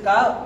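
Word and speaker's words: ق: পেঁচানো আছে এটার মধ্যে পেছনে থাকলে এটা হচ্ছে কাফ কাফ আর এটা হচ্ছে লাম যেমন লাম আর কাফ প্রায় কাছাকাছি লামের মধ্যে মাঝখানে কি থাকে না খালি পেঁচ থাকে না খালি থাকে আর কাফের মাঝখানে কি থাকে একটা হলো কফ আরেকটা হলো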